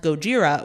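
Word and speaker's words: ゴジラ: Kuh jira meaning whale in japanese his name is pronounced Gojira which was anglicized as Godzilla so it would be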